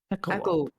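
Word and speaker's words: Echovald: Pronounce it like it would be with W. Wald in German means forest. There you go. Echowald. Echo. Echowald. So it's the Echo Forest.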